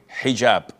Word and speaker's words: hijab: What you're referring to is hijab with an H. And I know in France they don't pronounce the H when it is in the beginning of the word as in hotel or but this is an Arabic word.